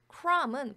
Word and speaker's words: crumb: a bit of 이렇게 쓰이면 조금의, 소량의 라는 의미가 되고 crumb은 부스러기입니다. 그래서 b가 묵음이에요. 소리가 안 납니다. 발음이 안 돼요.